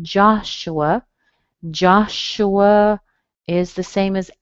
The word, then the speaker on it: Joshua: You notice the U sounds like a schwa. Joshua, but you do hear a little W in between them. Joshua.